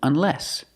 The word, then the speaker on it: unless: Or I can use unless. Put the stress on the second syllable.